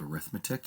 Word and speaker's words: arithmetic: this is an arithmetic it's spelled arithmetic yes but it's arithmetic kind of like snow quality instead of snoqualmie okay and now you